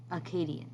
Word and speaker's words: Akkadians: Listen to that pronunciation again, Akkadians.